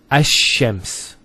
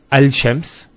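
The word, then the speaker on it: الشمس: And because they're very close, what happens is this lam is not pronounced. And what happens instead is the lam is pronounced as a sheen. So there's actually a shadda here. So it's Ash-Shams, not Al-Shams. Because notice when you say Al-Shams, it's not smooth.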